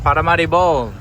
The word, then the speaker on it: Paramaribo: Just across the river there, that is Paramaribo. I realize there's an R somewhere in there and I'm still butchering the pronunciation. Paramaribo, that's it.